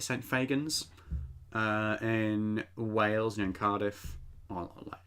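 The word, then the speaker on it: St Fagans: saint fagan i think fagin is how you say it saint fagans uh in wales and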